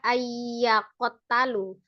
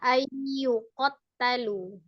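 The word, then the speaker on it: أن يقتلوا: Ulang, tadi terbaca ayyakotalu. Harusnya ayyukotalu.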